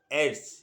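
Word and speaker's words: AIDS: বসলে মৃত্যু একেবারে অবধারিত রোগটার নাম এ আই ডি এস রোগটার নাম আবার বলছি উচ্চারণে হবে এইডস এই রোগটা যদি কারো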